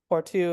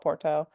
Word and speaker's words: Porto: the coast to um Porto is the way they pronounce it, but Americans would call it Porto.